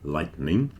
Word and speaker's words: lightening: as in thunder and lightning. The third one, which is often pronounced lightning because you don't really hear the E in the middle a lot of the time, that is from the